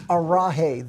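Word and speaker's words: Araji: It's Arahi. The J is like an H.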